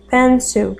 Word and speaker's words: pencil: Pencil, a gente não pronuncia aquele i ali, ó. Pencil, que é lápis.